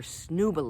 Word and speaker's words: Snuba: going to get our snooba lessons okay i did not mispronounce that snooba it's a mix between snorkeling and scuba diving so you've got the